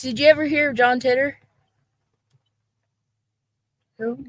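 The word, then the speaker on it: Titor: you ever hear John titter who isn't that how you pronounce it titter TI t o r I think is did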